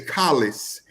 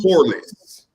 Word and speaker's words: Collis: His name is Collis. I was calling him Corliss. Now you make up people. You name people what you want them. That man never told me I was pronouncing his name wrong.